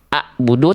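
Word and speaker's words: أعبد: Ain itu lebih ngeden. Kalau Hamzah itu lebih lebih rileks, enggak pakai perlu banyak effort. A a budu. Kalau ain ngeden sedikit. Biar nekannya di sini enggak di sini enggak salah makhraj biar bunyinya enggak begini. A'budu tapi nekan sedikit lihat titiknya pindah ke atas. A'budu.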